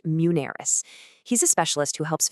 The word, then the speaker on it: Muneris: And if you're looking for that kind of guidance, a great person to talk to is Mansoor at Muneris, and that's pronounced Muneris.